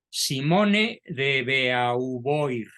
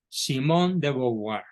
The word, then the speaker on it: Simone de Beauvoir: y además considerando que el vocablo e a u en francés se pronuncia o y el vocablo oi se pronuncia oir Entonces es bua Perdón Simón De bouar quién fue Simón de